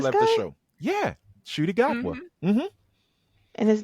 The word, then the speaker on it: Ncuti Gatwa: Shooty Gatwa. Oh, Yeah. he has it starts with an N. I would have never guessed Right. Shooty. Well, because the N is silent.